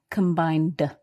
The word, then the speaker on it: combined: And this ed verb is pronounced d, combined.